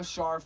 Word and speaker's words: Scharf: Follow me at Scharf, SCHARF. The C is silent.